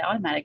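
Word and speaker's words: Automattic: working for the open source project sponsored by Automatic? Is that how, did I say it right? Okay. Yes, I work. Yeah, this is a complicated sentence. I am sponsored by Automatic to work on the open source project.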